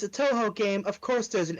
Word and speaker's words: Touhou: same company behind godzilla oh no t-o-u-h-o-u okay different name pronounced the same how many games are